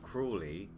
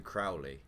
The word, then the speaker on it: Crowley: me the way they kept pronouncing crowley even after they changed cruelly to crowley cruelly it's a instead of cruelly as in creepy cruelly i changed it to crowley but it's actually meant to be crowley that did annoy me slightly uh well i say it's meant to be crowley i only know it to be pronounced like that from supernatural so yeah i've i